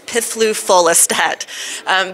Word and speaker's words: piflufolastat: you're intrepid enough to pronounce the generic name it's pithloofolistat but polarify was approved